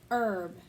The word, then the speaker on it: herb: turned helplessly to hannah herb she corrected with a whisper don't pronounce the h he nodded gratefully instead